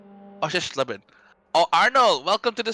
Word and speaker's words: Oschersleben: Yes, I pronounced it correctly. Oschersleben. Oschersleben.